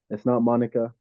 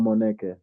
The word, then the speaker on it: Moneke: It's not Monica. It's Moneke.